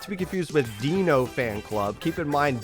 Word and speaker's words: Dino: Keep in mind, Dino from the Flintstones is spelled D-I-N-O, so that's why I kept calling that player Dino, but it turns out Dino's the actual pronunciation, my bad.